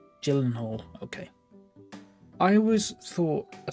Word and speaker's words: Gyllenhaal: like a gyllenhaal um it's a soft g i never know what that means i'm gonna google it again more like hall oh okay i never know soft and hard letters someone did like soft c and hard c and i was like i don't know what that means so it's like gyllenhaal gyllenhaal gyllenhaal okay i always thought